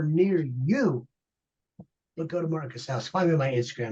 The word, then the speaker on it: Martin Casaus: At Martin Casaus, rhymes with house. It's house. Martin Casaus.